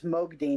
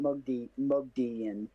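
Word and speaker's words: Moghedien: Eye of the world agonine does come in but yeah it's Mogodine not Mog Mogian.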